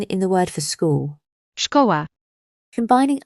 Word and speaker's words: Szkoła: S and Z is like the sh in ship. This can be seen in the word for school. Szkoła.